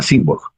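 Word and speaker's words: Symborg: Simborg. Simborg se escribe S-Y-M-B-O-R-G, ¿no?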